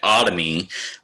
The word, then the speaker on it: otomy: This is usually pronounced, has an O in front of it, and it is not pronounced Tommy, but otomy means a cut into or an incision into.